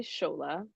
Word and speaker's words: Tsola: scha the schola because the T always trips people up but it's pronounced schola but spelled TS o l a and then yeah